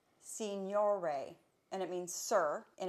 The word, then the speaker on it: signore: I think it's pronounced signore, and it means sir in Italian.